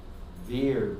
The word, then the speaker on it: Bir: for all of you my name is veer b-i-r so the beer bir is this is a bengali sized pronunciation of sanskrit v-i-r-a which is like heroic or strong so when prabhupad spoke